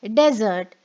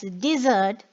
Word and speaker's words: desert: next is this word if i pronounce it as desert it means a hot arid region at the same time when i pronounce it as dessert it means to leave or to abandon okay now let's take